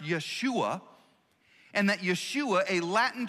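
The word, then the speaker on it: ישוע: the hebrew word or the hebrew name joshua is actually pronounced yeshua and that yeshua a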